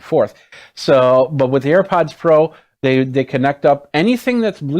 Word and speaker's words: AirPods Pro: Let's go back to the AirPod Pros here. I always say it wrong. It's AirPods Pro. AirPods Pro.